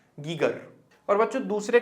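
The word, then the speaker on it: Geiger: इनमें से एक के बारे में शायद आपने कभी सुना ना हो, गाइचर हिंदी में बोलते हैं, लेकिन इसका एग्जैक्ट प्रोनाउंसिएशन गाइचर नहीं होता, इसका एग्जैक्ट प्रोनाउंसिएशन होता है गीगर।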